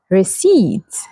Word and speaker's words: receipt: This is receipt. Receipt. So what letter here is silent? The letter P. Absolutely correct. So the P is silent.